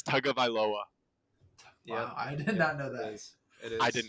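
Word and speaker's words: Tagovailoa: two other jerseys dude I learned how to pronounce his last name how do you say it it's tug of iloa yeah I did not know that is I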